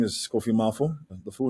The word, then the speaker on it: Kofi Maafo: Today we are here with Kofi Maafo, who is the founder of Bloom Bar over in Accra, Ghana.